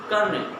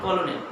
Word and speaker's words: colonel: When we look at the spelling, it looks like colonel, but its correct pronunciation is colonel. It's not colonel.